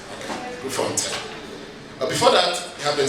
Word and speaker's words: Grootfontein: high treason case in the High Court at Grootfontein. Is that how you pronounce it? Yeah? Grootfontein. Okay. Grootfontein.